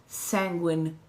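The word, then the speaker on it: Sanguine: because my name is sanguin threads and penguin rhymes with sanguin it's just a little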